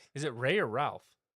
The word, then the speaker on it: Ralph: Is it Ray or Ralph? I think it's pronounced Rafe. That's how that's how they always said when I watch interviews and stuff. the guy who plays um spelled Ralph though.